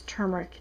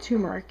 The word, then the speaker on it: turmeric: is the turmeric powder I honestly cannot pronounce turmeric to save my life I usually call it tumeric but anyway this is